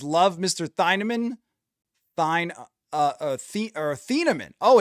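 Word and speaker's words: Thieneman: I had not seen the official pronunciation. Dylan Theamman.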